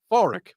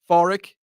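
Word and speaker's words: Pádraig: is St or Nave foric okay foric and yes I know it's it sounds like it's with an F but it's with a p p a d d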